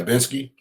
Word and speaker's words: Binsky: But so tell us about the Binsky. Is that how it's pronounced? Yeah, Binsky. Okay. Man, I heard a couple of people call it Binsk, so I might be pronouncing it wrong.